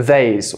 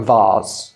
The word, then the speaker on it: vase: it and that is called a vas or vase vas or vase two different pronunciations if you come over